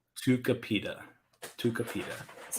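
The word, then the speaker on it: Tucupita: like two supita or tuku pita tuka pita tukapita that's not how it's spelled that's exactly how it's spelled t-u-t-u-c-u tuka pita p-i-t who's not pronounced ooh u is pronounced ooh tukupita tuka pita i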